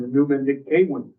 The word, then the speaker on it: Menumanikawin: The week of October 10th, grades 3 through 5 students participated in a lake ceremony and the Menumanikawin, one more time, Menumanikawin, that's pronounced the E like an A, demonstrations.